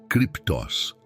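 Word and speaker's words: κρυπτός: Para aprofundarmos no conceito deste lugar escondido, podemos olhar para a palavra grega cruptus, se pronuncia criptos.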